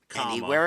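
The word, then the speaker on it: Any Wear: what is the name it's called anywhere anywhere and it's spelled a-n-y and then the next word is w-e-a-r um anywhere anywhere interesting anywhere anywhere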